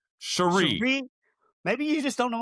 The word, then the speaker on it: Cherie: Cherie. Cherie Devaux. It's not cherries. It's not cherry Coke here.